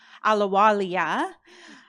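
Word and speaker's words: Ahluwalia: And with me is Suki Alawalia. I just learned I'd been u pronouncing her name without the IA at the end tonight.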